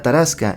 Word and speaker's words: Tarasque: a Santa Marta la taraska en francés la tarasque pronunciado tarask es una especie de